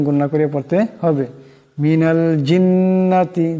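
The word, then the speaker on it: الْجِنَّةِ: করে পড়তে হবে মিনাল জিন্নাতি জিম জিমের উচ্চারণটি জিহ্বার মধ্যবর্তী স্থান থেকে হবে জিন্নাতি এমন করে পড়া যাবে না জিন্নাতি এমন পড়েন যার উচ্চারণ হয়ে যাবে শুদ্ধ হবে না ভুল হয়ে যাবে মিনাল জিন্নাতি জিন্নাতি মিনাল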